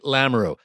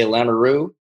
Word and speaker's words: Lamoureux: Yeah, North Dakota, they say Lamoureux. And then they really get the throat into it in Austria, Lamoureux.